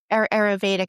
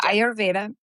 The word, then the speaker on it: Ayurveda: like define what is Aurvedic. Am I pronouncing that correctly? Auraved. Yeah. Ayurveda. Yeah.